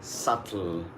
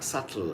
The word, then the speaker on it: subtle: So a word like subtle has a spelling like S-U-B-T-L-E. S-U-B-T-L-E. That is subtle.